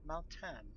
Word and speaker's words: Maoh'tann: Believe the name was Maoh'tann, correct? You are correct. Pronouncing it right.